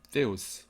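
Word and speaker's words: θεός: 하나님, theos. 그래서 하나님의 영어 헬라어 발음이 데오스도 아니고 떼오스도 아니고 theos 이렇게 해야 돼요.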